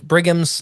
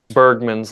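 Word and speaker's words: Bergmann's: So that's like I can't remember if it's Bighgams. I can never say it right. Bergman's law.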